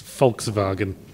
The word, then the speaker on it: Volkswagen: the way they pronounce Volkswagen. Because See, it went to sleep. Germans pronounce their W's as V's. They're notorious for it. But did you know they also pronounce their V's as F's?